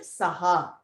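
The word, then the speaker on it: सह: You will say it as Ramena Saha. So Saha, ha has an ha, not the two dots.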